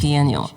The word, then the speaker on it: Biennial: How do you pronounce that? Biennial? Correct. Biennial.